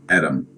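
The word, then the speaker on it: אדם: He notes it is pronounced Adam and explains that it directly translates to red earth or ruddy.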